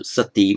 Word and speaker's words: sati: sanskrit word and that's it's with a long e at the end literally means it's the female or the feminine actually form of meaning good so sati means a good woman